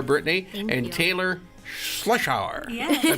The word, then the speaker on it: Schlotzhour: Tailor Schlotzhour. Yes, I pronounced it right.